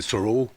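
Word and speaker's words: Thoreau: il vient de Normandie mais c'est Thoro. Je je suis pas très doué dans la prononciation mais on dit Taureau en France un joueur eu comme vous l'avez dit.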